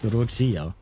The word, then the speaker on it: Roccia: And she pronounced it Rochia.